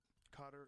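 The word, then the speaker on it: Qatar: Cutter.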